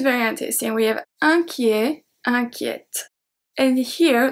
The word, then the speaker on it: inquiète: And here the E before the T is going to turn into a E accent grave. Inquiet, inquiète. Because if we didn't have a accent grave, the pronunciation will stay as a E, because it's not followed by 2 consonants.